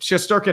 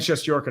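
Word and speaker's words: Shesterkin: was sh yorin because the yo is technically proper pronunciation in Russian but shest durin and chest yorin are both correct yes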